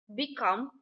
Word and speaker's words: become: Become or to be. Stress on the second syllable.